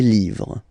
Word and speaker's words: livres: Okay, les, and then same rule, you just write livre, and then you put s at the end, but then you don't pronounce it. Les livres.